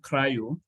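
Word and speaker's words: CRI-O: there's container d there's container D there's um cryo it's spelled c r i o this way there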